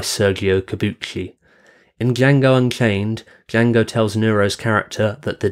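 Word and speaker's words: Django: name directed by Sergio kabuchi in Jango Unchained Jango tells nuro's character that the D in Jango is silent to which nuro's character replies I know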